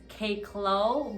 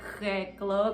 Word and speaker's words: Kay Klo: So they split my name in half, and the closest they could come to pronouncing Kay Clow, because it's like airy, throaty. Wow. They pronounced it Kay Clow.